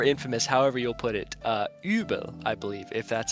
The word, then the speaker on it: Übel: thought it was interesting how the Japanese pronunciation is Yuberu, Hmm. instead of like Uberu, which I thought fit more because the U sound effect almost sounds more like the German Ü, I feel.